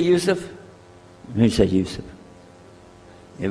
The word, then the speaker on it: Yusuf: back so I'm gonna go my name is Yousef he say Yousef make sure you sit there very good I